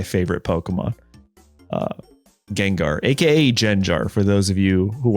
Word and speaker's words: Gengar: lot of comments like why do you pronounce it as jenar and I guess I'll explain like uh that's how I pronounced it as a kid when I first saw it and you have to